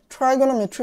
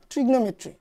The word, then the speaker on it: trigonometry: ত্রিকোণমিতি ইংরেজিতে বলে কি ট্রাইগোনোমেট্রি বা ট্রিগনোমেট্রি, যেটা উচ্চারণ করো।